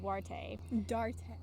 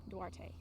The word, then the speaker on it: Duarte: Jude Duarte is how it's said.